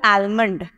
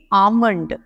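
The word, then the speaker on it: almond: अब पहला वर्ड देखिए, इसको हमने बोला था आलमंड, जबकि ये आलमंड नहीं है, ये इसको हम बोलेंगे आमंड। यहाँ पे क्या हुआ, एल जो है वो साइलेंट हो गया, मैंने इसको बोला आमंड।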